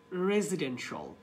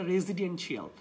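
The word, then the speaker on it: residential: আমরা বলতে পারি কমার্শল, সি আই এ এল বা টি আই এ এল, এই ধরনের যে সমস্ত এন্ডিং আছে শব্দ যেখানে শিয়াল উচ্চারণ হয় সেগুলোকে আপনি স্টপ করে আপনি বলবেন শল। Like ইসেনশল, পটেনশল, কমার্শল, ফাইন্যান্সল, রেজিডেন্সল, this not দ্য রেজিডেন্সিয়াল। অনেকে বলে এইভাবে যে আই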